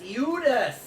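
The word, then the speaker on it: Eudes: his name well yes i would hate to mispronounce mine as well which is the offensive judas e-u-d-e-s eudus some of the lists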